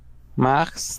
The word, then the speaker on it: Mars: Mars. Ese se dice como, ajá, como inglés. Así. Bueno, se escribe. Bien, bien, no, bien, buena observación. Y además rompe la regla, ¿eh? Consonante final que sí se pronuncia.